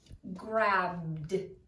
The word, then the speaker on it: grabbed: When vowel suffix ed comes after a voiced letter, it is pronounced d. Now, we know about voiced and unvoiced. These are the voiced letters, and I have them here for you. B, b, grabbed. It sounds like a D.